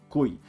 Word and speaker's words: cuy: it in Peru is Ki it's spelled cuy and it's pronounced kui that's not the typical